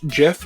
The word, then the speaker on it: gif: file format yes thanks the creator says it's jif but i'm going to say that um the g in in gif stands for graphics it's graphic interface format